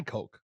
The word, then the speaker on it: Koch: I'm pretty sure you can buy Coke. Not Coca-Cola. I'm talking about the Koch brothers. It's spelled with a K.